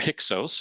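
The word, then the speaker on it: Hyksos: of Northern Egypt to the heos or hios is is the common pronunciation rulers who looked and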